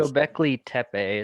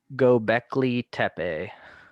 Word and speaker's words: Göbekli Tepe: I'm not the proper pronunciation, the proper. Göbekli Tepe is how it's pronounced. Wait, one more time. Göbekli Tepe.